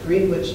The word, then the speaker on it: Greenwich: a woman in Greenwich which how they pronounce it Greenwich New York which is right over